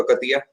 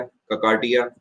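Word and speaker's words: Kakatiya: अब मैं आपको बताता हूँ, ये जो आपका एक आपने डायनेस्टी सुनी होगी, आपने बात सुना होगा ककतिया, ककातिया, ककाटिया, अलग अलग प्रोनाउंसिएशंस अलग अलग भाषा में चलते हैं।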